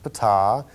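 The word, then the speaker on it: Ptaah: got to meet pata that's pronounced pata and he is the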